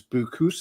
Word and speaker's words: Boucousis: It's actually you use the word boo because your your full name is and last name is is Buusus. Is that Yeah, it's hard to pronounce.